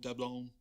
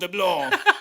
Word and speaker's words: Dablon: Jesuit fathers, and it'd be Gabriel Droulet, because the S isn't pronounced. Droulet. Just say Droulet. Just say Gabriel Droulet. And Claude Dablon.